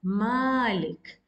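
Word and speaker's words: مالك: to count uh two because this is a long vowel and you uh pronounce it as Malik but in osmanic script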